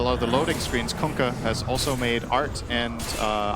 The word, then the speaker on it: Kunkka: I mean, Kunkka. Did you hear the way Tide yelled it? That's how you pronounce it. You're welcome. Kunkka.